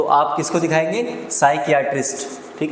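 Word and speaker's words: psychiatrist: देखो पी यहां पर साइलेंट रहेगा। इसको हम पढ़ेंगे साइकट्रिस्ट। क्या बोलेंगे? साइकट्रिस्ट।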